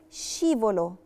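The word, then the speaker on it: scivolo: جه قبلها وتبقى شي بتتنطق شي زي بالظبط حرف الشين في العربي شين من غير اي تشديد مثال عليها كلمه شيبولو شيبولو يعني زحليقه المثال اللي بعده او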